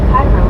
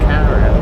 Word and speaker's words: Cairo: Carl Johnson said and it is pronounced like the syrup car right outside of Illinois.